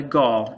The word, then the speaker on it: gall: Now, anytime you have a bump on a plant with an insect living inside, we call that a gall, G-A-L-L, rhymes with ball, starts with G.